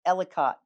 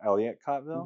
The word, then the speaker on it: Ellicottville: But I never could say this the last time we had this, but it's Ellicottville. You sure it's not Ellicottville?